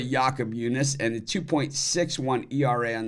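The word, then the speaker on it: Jakob Junis: uh pronounce his name thinks a lot of people call him Jacob junis but it's really yakob yunice and the 2.61 erra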